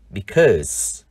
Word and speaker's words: because: Tuy nhiên, trong liên từ bởi vì chúng ta đọc là because. Âm ơ ngắn.